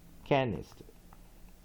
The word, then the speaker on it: canister: Canister. Okay, canister 15世纪的字，本来代表是 basket，拉丁文canistron，对不对？canistron，所以拉丁文所以我们看它重音在第几音节呢？在第一音节在第一音节，重音在第一音节，所以 strong syllable on first syllable，那当然2、3都是 weak，了所以我们看这第一个音节有什么 onset